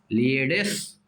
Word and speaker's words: Pleiades: Group of stars called प्लीयेड्स, वैसे देखो पी लिखा है, प्लीयेड्स, ऐसे स्पेलिंग याद करना है तो ऐसे पढ़ना पड़ेगा, प्लीयेड्स, PLEIADES, इन the taurus constellation, taurus constellation का एक स्टार है, समझिए, कृतिका।